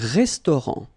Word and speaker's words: restaurant: Final T not pronounced. Un restaurant.